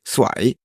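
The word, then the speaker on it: สวย: Doesn't that also, if you pronounce it with the wrong tone, mean cursed? Yeah, I think I just pronounced it with the wrong tone because I said I ignored the tones prior.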